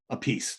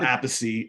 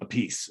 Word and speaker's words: Appice: So he got tired of that and he goes, a piece, that's it. No apice, a piece.